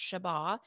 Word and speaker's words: Sheba: means daughter and then sheba is hebrew it can also be pronounced shaba and it means to